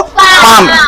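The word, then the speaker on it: palm: पाम। एल नहीं पढ़ा जाएगा। एल साइलेंट है। ये एल क्या है? साइलेंट है। ये एल नहीं पढ़ा जाएगा। क्या पढ़ेंगे इसको? पाम।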